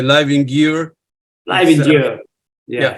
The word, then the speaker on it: Győr: How you pronounce Gior? Is how you pronounce that? It has a special Hungarian letter. It's Győr. Yeah. Too difficult. The first is J, the second Yeah. the second R. So it's Győr.